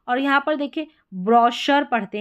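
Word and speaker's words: brochure: यहां पर इसको चैफ नहीं पढ़ते शेफ पढ़ते हैं। सी एच को श और यहां पर देखिए ब्रॉशर पढ़ते हैं।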